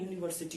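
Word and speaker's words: university: इसका पहला अक्षर वॉवेल है, फिर भी देखिए दोस्तों नहीं लगा, क्योंकि इसका उच्चारण यूनिवर्सिटी हो रहा है दोस्तों, ठीक है।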